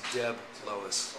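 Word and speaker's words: DeBlois: It's Debb Lois, you know, just Anyway, Deloce Village.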